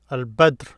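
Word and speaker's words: البدر: Here they're giving another letter, Al-Badr. Badr is a full moon. This here is just a moon in any state. Here, Al-Badr is full moon. Notice Al-Badr, Al-Badr. There is no stress mark here, Al-Badr.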